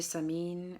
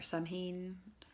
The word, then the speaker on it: Samhain: Oh, I guess happy Halloween, happy or merry All Hallows Eve, merry Samhain or Samhain. My Gaelic pronunciation isn't all that great unless it's music.